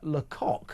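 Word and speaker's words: Lacoq: Uh hosted by Tanya Lok. And in case you think I'm saying a naughty word there, you spell it L A C O Q as in the French for chicken. Uh, it's a, you know,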